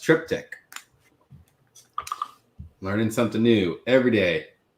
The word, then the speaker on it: triptych: It's more of a harmonious, likely from a refill cask, which I do want to point out Joe Manguno said that it's pronounced triptych.